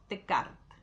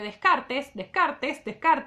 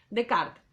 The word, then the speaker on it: Descartes: Descartes, entonces, más o menos para la misma época, francés, René Descartes, les pido, se escribe Descartes, se pronuncia Descartes, ¿sí?